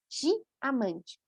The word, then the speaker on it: diamante: Combinação de I. Quando aparece a letra I, sempre, sempre, sempre vai ser di. Início, meio e fim. Por isso, diamante.